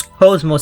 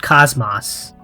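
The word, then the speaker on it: KOS-MOS: pronounce cosmos name okay so it's so it's cozmo and not cosmos i think it's a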